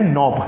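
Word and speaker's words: knob: खुल जाता है उसको हम क्या बोलते हैं नॉब क्या बोलते हैं नॉब clear I hope you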